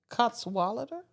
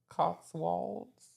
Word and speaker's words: Cotswolds: Spell it. COTSWOLDS. Cotswolder? Cotswolds.